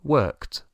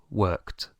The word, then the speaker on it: worked: Yo trabajé decimos i worked i worked d pero se pronuncia con t i worked Yo trabajé